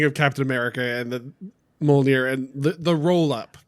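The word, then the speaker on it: Mjölnir: And speaking of Captain America and the Mjolnir and the roll up, the thing it's pronounced Mew Mew, just so we're clear.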